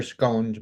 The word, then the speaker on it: scone: the next episode or scon as he calls them he did he said scones are scun so which way is the right way to say it uh is it SC where he lives probably I should have asked yeah here I hear I hear both here but I usually hear scones more than scon okay